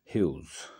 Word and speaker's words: Hughes: Edward James हगीज और टेड हगीज, pronounced like Hughes, was born in 1930 in the West Riding region of Yorkshire, Western countries में ऐसे नाम है।